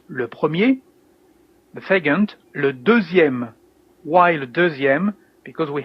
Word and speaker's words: deuxième: You can hear that here in deuxième that the letter X is like is pronounced like a Z, deuxième actually.